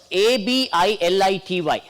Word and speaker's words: ability: we can remember it all it by words will have third syllable from the last stress and thank you